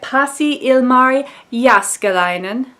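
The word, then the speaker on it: Pasi Ilmari Jääskeläinen: we have the rabbit back literature society by posse ilmari yas Kalinin this finish pronunciation brought to you by Maya from Maya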